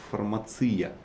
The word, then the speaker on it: фармация: Я, наверное, еще один вот тезис, который мы приготовили с коллегами, оказывается, для меня было лично открытие, что правильно говорить фармация, ударение на И.